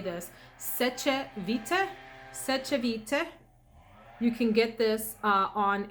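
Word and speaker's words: Sèche Vite: Seche Vite. You can get this on Amazon as well. S-E-C-H-E Vite, V-I-T-E.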